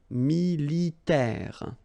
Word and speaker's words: militaire: Remember, A-I, it's this E sound as well. E, militaire.